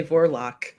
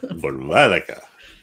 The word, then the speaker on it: Vorvolaka: I always want to say Vorlock. Yeah. Something yeah. like that. Vorvolaka. Accent on the middle syllable.